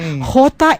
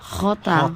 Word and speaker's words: Jota: Actually hindi JMJ. Jota M. Jota. Khota. Okay. Jota m khota.